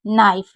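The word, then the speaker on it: know: पड़ते हैं उसके बाद के एन ओ व एन तो के साइलेंट है एंड को ना पड़ेंगे ओ व को ओ पढ़ेंगे एंड को ना तो नौ नौ उसके बाद के एन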